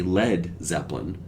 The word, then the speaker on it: Led Zeppelin: Jimmy Page said, "Those damn Americans will think it's Lead, L-E-E-D, Zeppelin." So they changed the name to L-E-D, Led Zeppelin, to clear up any mispronunciation from those damn Americans.